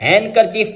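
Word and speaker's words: handkerchief: हैंड करचीफ लिखा होता है, D साइलेंट है, हैंड करचीफ पढ़ेंगे।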